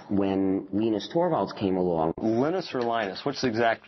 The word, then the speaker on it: Linus: lenus tval came along lenus or Linus what's the exact your preferred pronunciation um when I speak Swedish it's lenus when I speak Finnish it's lenus when I speak English it's lonus and I really don't